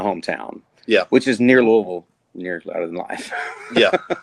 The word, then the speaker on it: Louisville: It literally sounds like you have something in your mouth when you're saying That's that. why I said It's like lullaby.